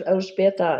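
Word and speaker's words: Elżbieta: calls me but my first name is Al beta and it's I think a chore for most people to pronounce wherever I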